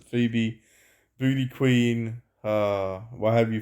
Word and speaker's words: Phoebe: Uh, I call it Phobe because that's how it's spelt, but people pronounce it Phoebe.